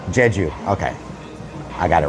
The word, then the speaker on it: Jeju: How do you pronounce the name of the restaurant? Jeju. Jeju. Okay. I got it wrong. Thank you. Jeju.